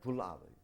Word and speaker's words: Puławy: Puławy. That's it. How do you right? how did you spell that?